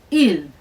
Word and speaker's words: ils: In the singular pronouns that we talked about before, it's pronounced exactly the same, except there's an S at the end of the il that we use for they.